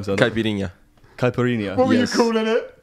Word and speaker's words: caipirinha: Or maybe you can help me with the pronunciation. Caipirinha. Caipirinha. What were you calling it? Caparano.